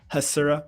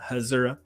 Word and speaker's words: Hasura: for the last year it's us hasura with on to z not hazura because it exposes the